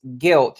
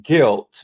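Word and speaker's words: gilt: and remember the UK's guilt it's g-i-l-t guilt Market I know it sounds like I'm saying guilt but no guilt I think I'm pronouncing it right I I guess I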